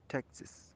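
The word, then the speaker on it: Texas: کاوباو بوټس فرام ډالاس ټیکساس، ټیکساس څنګه تلفظ کیږي؟ ټیکساس.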